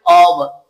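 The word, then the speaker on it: off: इसका pronunciation ऑफ है। ओ एफ ऑफ आप डिक्शनरी में चेक करिएगा। आप Google पे जाके ओ एफ लिखें और फिर वहां पे प्रोनाउंस जो है वो इस पे क्लिक करें तो आपको ऑफ आफ नहीं मिलेगा।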